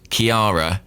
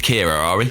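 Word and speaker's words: Ciara: so confused to speak in England people are pronouncing that name about five different ways I've heard Kira Chiara Sierra Sierra and others well we go with Kira yeah well that's how you pronounce it it's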